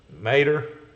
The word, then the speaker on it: Mater: yeah that's tow matter from Cars movie what pronounce Mater okay while you are at golf cart garage